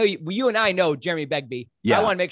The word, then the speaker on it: Begbie: Jeremy Begbie's a Cambridge trained musician and theologian.